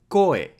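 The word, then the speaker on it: こ: Ko is pronounced like ko in cohabitating. In British English, it is more like ko in coin.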